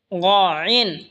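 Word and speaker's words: غين: এরপর হলো গইন, গইন হলকের শেষ ভাগ হয়তো উচ্চারণ হবে গইন, গইন।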